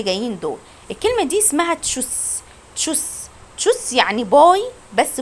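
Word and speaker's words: Tschüss: غير رسميه بقول له تشوس يعني باي. تشوس. واحنا اتفقنا ان الاس تي ها اللي بيجي في النص معناها اش، معناها شين، بتتنطق شين سوري.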